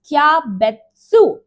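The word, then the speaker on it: キャベツ: the sound, and it needs to be spoken in one beat. For example, cabbage is known as kyabetsu, kyabetsu, kyabetsu, kyabetsu. And 100 is spelled as hyaku, hyaku, hyaku. You can see the pronunciation, the beat that over here matters.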